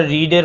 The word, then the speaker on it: read: শিক্ষার্থী বন্ধুরা, রিডের past participle কিন্তু র্যাড হয়, রিড হয় না। দেখতে একই রকম হলে উচ্চারণটা ভিন্ন হয়।